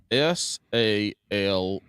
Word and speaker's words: salmon: How do you say the word SALMON? Salmon. That's right. Salmon. Now this inbred motherfucker says the L. in it.